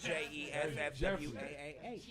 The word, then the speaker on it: Geoffroy: Jeff Watt is JEFFWAAH.